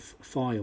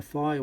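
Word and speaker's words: Piher: So if you need to change them, put the fire ones in. P-I-H-E-R. I think that's how you pronounce it. Fire, but not spelt fire.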